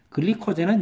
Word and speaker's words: 글리코젠: 글리코젠은 영어고요. 글리코젠 이거는 영어 발음이고요. 글리코겐 하는 거는 독일어나 영국식 영어 발음이에요.